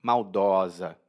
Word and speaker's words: maldosa: E perceba a diferença na pronúncia. Hein? Maldoso e maldosa, no masculino e no feminino.